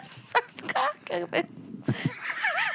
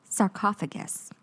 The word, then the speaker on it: sarcophagus: Sarcoughalus. Oh my God. You want me to tell you how to spell it? Shut up. Say the word one more time. Sarcophagus.